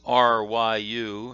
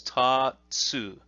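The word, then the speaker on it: 竜: is it is and that's ryu in in english the r almost sounds like a d when you say it properly and it's a long it's a long oo sound there through so the kunyomi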